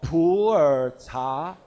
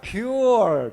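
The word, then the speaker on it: Pu'er: suggested to the company don't say poor tea it will sound like a poor t so say it like a pure t so it cannot sound like a pure t pure t you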